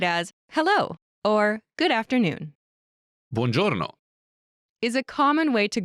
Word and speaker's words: buongiorno: to drop thee finally mark's family name lee pronounced in italian all together it's bonjourno good morning mr lee note this exchange is